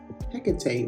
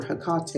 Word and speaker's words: Hecate: leaving my offerings to Hecate, or Hecate if you want to pronounce it that way.